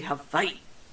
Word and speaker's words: Hawaii: Harbor in Hawaii or as most people in Hawaii would say Havi Havi the proper pronunciation this great B started